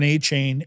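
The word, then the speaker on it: Achane: at our teams and I've got Devin Aane everywhere or Achain, I know they pronounce it both ways, and he's hurt right now.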